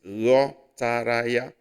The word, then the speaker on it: ghọtara: No, it's gh. Sounds like you're saying ye in you. This is GH. It's one alphabet in Igbo. Together is pronounced as ye. So this is ghọtara ya.